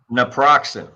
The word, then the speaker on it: naproxen: that okay so that's right say it again naproxen naproxen thank you all right that's approximately how